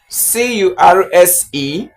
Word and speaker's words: curse: So C-U-R-S-E is pronounced as curse. Curse. It has the long vowel e.